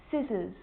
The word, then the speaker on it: scissors: few problems because it's often silent after the letter s like in these very common examples they're quite tricky muscle muscle scissors fascinate scene scenario muscle